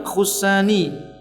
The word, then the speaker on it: Khushani: Kemudian lafaz khussani, kalimat khussani di dhammah pada huruf ha-nya, ini nisbat kepada Khushain